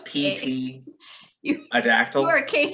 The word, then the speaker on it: pterodactyl: what if total recall we had a silent p like a pterodactyl a pterodactyl does that make sense no we spelled pterodactyl with a p it's pt a dactyl you're into a very